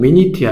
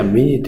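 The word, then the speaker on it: minute: 뜻도 있어 두 번째 m 고 쓰는데 발음은 미니야 미니트 미뉴트 아니야 미니야 미니 분 분이 되고요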